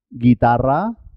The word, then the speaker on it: guitarra: la es muda en este caso guerra leopardo guitarra águila guerra de pardo guitarra águila último la